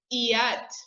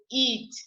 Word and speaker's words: eat: and you say li same with eat you don't say at or e8 you say eat so you consider the